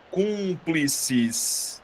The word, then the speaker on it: Cúmplices: Cúmplices. Ó, se você perceber, eu acentuei a antepenúltima sílaba. Se eu acentuei isso, Liliane. Boa. Isso aqui é uma proparoxítona porque eu acentuei a antipenúltima.